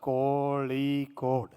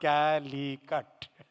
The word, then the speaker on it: Kozhikode: So Muralidharanji told me it has to be pronounced Kozhikode, not Calicut.